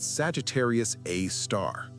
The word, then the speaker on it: Sagittarius A*: They called it Sagittarius A star after the constellation in which it appeared. The asterisk pronounced star was a notation from radioastronomy, but it stuck.